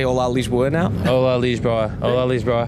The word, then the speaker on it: Lisboa: Lisboa, not Lisbon. Yeah. Okay. No. Because Lisboa, it's Olá is Olá. Okay. It opens up. The A is openly pronounced, Olá, and Lisboa.